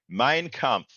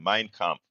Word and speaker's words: Mein Kampf: Mein Kampf. I want to be, I want to look like I know a little something. Mein Kampf.